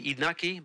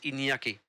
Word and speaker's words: Iñaki: Let's say Inaki, but in Spanish it's in Basque is Iñaki.